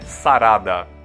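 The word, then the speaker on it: サラダ: português ou do espanhol e a pronúncia é quase igual é sarada só troca o l pelo R carta Esse é bem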